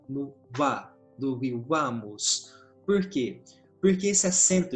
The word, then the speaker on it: vivamus: Eu sei, pelas regras de acentuação, que no vivamus, o acento vai cair nessa sílaba aqui, vá. E eu coloquei o acento de intensidade que a gente tem em português, vivamos.